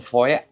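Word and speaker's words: Fowey: I may get a little bit of the cast show And then again tomorrow in Foy, F-O-W-E-Y it's spelled.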